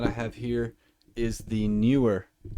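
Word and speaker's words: Neewer: I've got a guest mic over here, which is a newer, I don't know how to say it. I believe it's newer, N-E-E-W-E-R. That was a little bit of a tongue twister. N-E-E-W-E-R. N-E-E-W-E-R.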